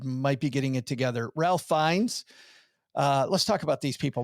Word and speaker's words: Ralph Fiennes: Because I'm pretty sure the right way to say his name, which is ridiculous, is Rafe. Fine. Rafe Fiennes.